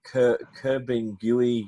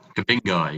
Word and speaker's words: Kabingai: Pat was also the Chief Executive Officer of and I hope I get the pronunciation right, the Kerbinguy Youth Development Limited. Is that correct? Kabingai, yeah. Kabingai, sorry, I knew I'd get it wrong.